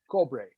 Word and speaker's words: cobre: that's what i said cobra no cobre oh no cole so we spent an hour and a half cobra no cobra not coal like coke like i didn't say it like that i said coal koh ko yeah say it like that okay mariachi cobra no it's cobre it was like an